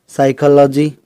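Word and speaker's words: psychology: साइकोलॉजी इसी तरह से साइकाइट्रिस्ट। कुछ वर्ड्स में एस साइलेंट रहता है।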